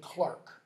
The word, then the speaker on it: clerk: he's actually he's finished clerk means in Chaucer's pronunciation by the way would have been Clark that's where the name